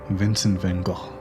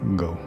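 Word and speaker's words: Vincent van Gogh: be a poster child of depressed artists is vincent van gaal and yes it's pronounced not go we all know how he suffered from mental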